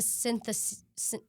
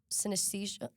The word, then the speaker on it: synesthesia: And it's not like a synthesis synesthesia Oh my goodness, how do you say that word?